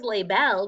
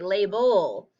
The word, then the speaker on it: label: say el les belle no one says lay bell we say label so the e we put the schwa sound over it because